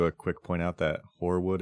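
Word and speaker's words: Hoarwood: quick point out that horwood is spelled h o a r w o d just to be clear yes it's like hor Frost yes I don't know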